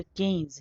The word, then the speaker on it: Keynes: लिखा हुआ रहता है तो वह गलत उच्चारण है लेकिन वह परिपाटी में आ गया है क्योंकि वह एगी उच्चारण होता है इसलिए वह बींस कहते हैं हिंदी माध्यम वाले लेखक लेकिन न वैसे इनका नाम जॉन मेनार्ड कींस है मैं तो चुप कि